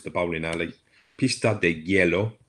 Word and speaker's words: hielo: Pista de Hielo. Notice how we say that? It looks like good the way it's spelled, but we say yellow.